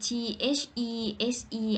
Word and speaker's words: these: แม่ ดี ที่ ดิสก์ T H E S E อ่าน ว่า These are of เสียง ยาว กว่า ดิสก์ เมื่อ กี้ อะ dean แปล ว่า